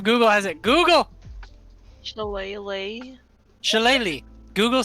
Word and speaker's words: Shillelagh: Shiliga, right? Shiliga? Used it, actually. No, Shalag? no, you don't pronounce the actually G.